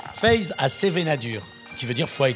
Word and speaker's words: Feiz ha Sevenadur: Phe à sevenénad dur c'est comme ça qu'on prononce Phe à sevenénad qui veut dire foie